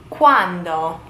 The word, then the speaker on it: quando: Quando. Not to be confused with quanto, which is basically how much. When? Quando. With a D.